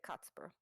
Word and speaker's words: Kotspur: In English, it would be Casper, but he pronounced it Kotspur.